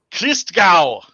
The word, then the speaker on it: Christgau: he's gonna show up hooked it is pronounced Christgau to Gao naturist Christmas creased Kris Kris Kris Kris cow yeah yeah but don't it's